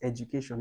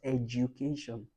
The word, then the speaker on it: education: It's not pronounced as education, it's pronounced as education. Edu, the D is not do, it's G.